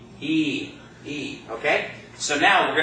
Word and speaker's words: y: you know the end and then the letter Y that's all by itself that's a word in and of itself that means and it's pronounced just like the high and off a e o so to say and in Spanish we say what ii ii okay so now